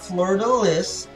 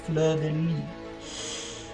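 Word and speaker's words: fleur-de-lis: It is not Fleur de Lis in French. It is pronounced Fleur de Lis.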